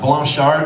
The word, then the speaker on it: Blanchard: It's actually supposed to be pronounced Blanchard because it's French, but no one wants to be that American asshole who pronounces foreign words correctly.